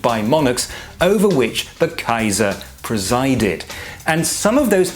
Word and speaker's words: Kaiser: on the title of Kaiser which is quite simply the Latin Caesar but pronounced the German Way and later holy was